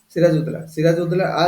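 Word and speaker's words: Siraj ud-Daulah: सिराज उद्दौला देखो हम प्रोनाउंसिएशन कर दोसन कि देखो डी यू ए एल ए डुला सिराज उद्दौला asked both French and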